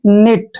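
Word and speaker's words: knit: के एन आई टी जब भी ए से पहले के आता है वहां पर हमने के को साइलेंट रखना है क्लियर ये सभी में ध्यान रखना है जहां पे एन से पहले के आए तो एन का उच्चारण हम नहीं करेंगे तो यहां पे के को हम नहीं पढ़ रहे हैं एन आई टी इसको हम पढ़ेंगे निट क्या पढ़ेंगे निट क निट नहीं पढ़ना है निट पढ़ना है निट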